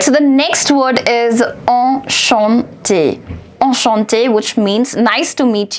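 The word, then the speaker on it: enchanté: exactly like O So e n and a n are to be pronounced the same now you have this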